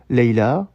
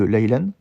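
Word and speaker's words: ليلة: fin de la phrase, on dira plutôt Layla, comme c'est la fin de la phrase, au lieu de Laylan.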